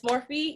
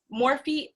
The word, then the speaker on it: Morphe: want to see more makeup tutorials and it's morphe yes morphe with let me just spell it for you m o r p h e there you go so yeah morphe morphe for